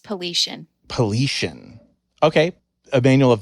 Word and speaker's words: Paulician: It's pronounced Paulician.